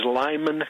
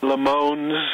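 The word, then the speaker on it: Limon: the assistant town manager what do you say it is Lymon Colorado oh I've heard various LeMans and and things like that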